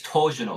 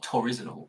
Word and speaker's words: torsional: Well, the reason I stumbled on that word is because it actually is torsional. It's not torizinal.